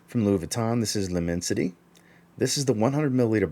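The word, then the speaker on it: L'Immensité: with their version of lemon site leminsite i believe is how you say it from louis vuitton this is lumensity this is the 100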